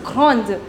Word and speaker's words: grande: Now the pronunciation would be different because in French you do not pronounce the last consonant. So this would be grand. D will not be pronounced. Here this is not the last consonant because after that came e. Right? So you'll pronounce D over here.